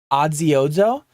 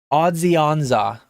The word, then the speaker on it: Odzionza: So if you look at the words on it, it looks like Odziozo. But if you look at the phonetic spelling of it, Odzionza is how you say that one.